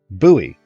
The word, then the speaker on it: buoy: 85 banked levels now buoy rhymes with gooey see buoy not bully buoy rhymes with Gully